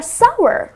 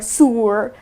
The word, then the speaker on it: sour: is sour lemons are sour right so it's well you can drive it with power or shower so it's sour the correct pronunciation is sour because many people pronounce it sr or sewer so all weird pronunciations